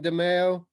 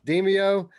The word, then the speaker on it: Demeo: this show without mentioning demayo or demio i'm still saying call it saying it wrong demeo then uh i don't